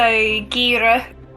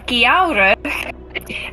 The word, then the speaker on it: Kiara: lovely who's next um okay so Gira oh Jesus I even said my own name wrong that's a great start Kiara um is a winter